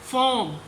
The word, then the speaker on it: form: आगे वर्ड्स हैं फॉर्म, FORM, are mostly silent होती है इंग्लिश वर्ड्स के अंदर, ओके।